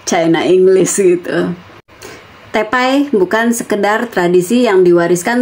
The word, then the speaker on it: te pai: kebiasaan di keluarga masing-masing kata tepai ini juga sering dicampur-campur dengan istilah Inggris jadi tipai bacanya gitu Ya Ti ya teh juga gitu kan artinya ya sebenarnya sama aja cuman kalau saya bilangnya kalau emang aslinya tepai ya Kenapa harus jadi tipai jadi chinlish China English gitu tepai